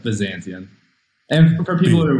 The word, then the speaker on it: Byzantion: How is it that we're supposed to be pronouncing Byzantium? Like, what are we, from the horse's mouth, we want to know. We call it Byzantion.